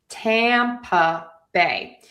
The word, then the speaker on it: Tampa Bay: Tampa Bay. So, we have that schwa syllable in the middle there. Stress on the tam.